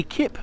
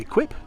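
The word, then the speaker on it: Equipe: exactly like this so the ekip version or equip depending how you pronounce it version of the Allegro added some much needed Sparkle to the reins this one's from 1980.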